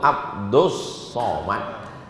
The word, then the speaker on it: Abdus Somad: huwallahu Ahad Allah itu salah kalian yang betul itu Abdus Somad tapi kenapa ditulis Abdul Somad itu ejaan Inggris lu ejaan Arabnya Abdul Somad saya ini